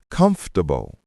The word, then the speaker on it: comfortable: Comfortable pronounced comfortable or comfortable. Three syllables.